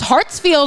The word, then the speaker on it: Hartsfield: It's not that difficult to pronounce. It sounds exactly like it looks, but it's the I and the E.